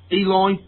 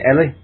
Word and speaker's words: Eli: As Eli. Yeah. Or Ellie, sorry, the girl. Ellie, yes, yeah. Ellie, yeah. I thought they were very, very good, Richard. Yeah, particularly Ellie.